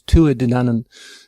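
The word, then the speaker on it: Tuatha Dé Danann: I should pronounce it the Irish way is Tu a denan pronounce it like I say it in English but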